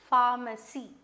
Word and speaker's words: pharmacy: a different spelling altogether it doesn't start with the f it starts with ph but still it has the pronunciation pharmacy okay so what is